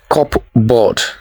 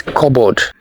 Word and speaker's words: cupboard: The next one, this is not cupboard, it is cupboard. The silent letter is the letter P.